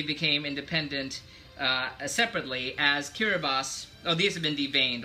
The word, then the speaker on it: Kiribati: independent uh separately as kirbas oh these have been dained also as kirbos uh as AKA you know spelled Kiribati but pronounced kiribas and talu those are